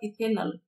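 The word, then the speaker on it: ethanal: यहाँ पे अल ए एल आता है लास्ट में, जो भी पढ़ेंगे तो उच्चारण ए एल आएगा, तो ये होगा इथेनल।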